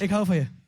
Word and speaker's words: Ik hou van je: Ik hou van je.